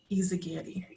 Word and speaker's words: Yzagguire: Charlie, close the parentheses and put Yzagguire. Did I say it right, Ashley? Yes, you did.